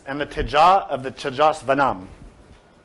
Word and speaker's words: teja: The final passage of the scripture says, and the teja of the tejasvanam. Teja is often pronounced with a Spanish accent as teja, but in Sanskrit it's usually with a J, with a very slight J, teja.